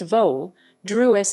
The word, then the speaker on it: Vodruž: vadras vadras pronounced vol druess is a settlement in